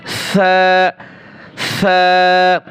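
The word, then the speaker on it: ثا: খুবই নরম আপনার জিহ্বার আগা উপরে দুই দাঁতের সামনে দিয়ে উচ্চারণ হবে সা অনেকে উচ্চারণ করে সিনের মত সাবে বলা যাবে না সা নরম করে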